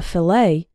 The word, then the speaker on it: fillet: fish is called a fillet the tea in fillet is silent vegetables can be chopped